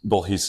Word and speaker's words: Bourhis: It's a French name. Is it French? It's technically Bourhis. What's Bourhis? Bourhis is the French pronunciation of my last name, but we really? butchered that when my family came to the U.S.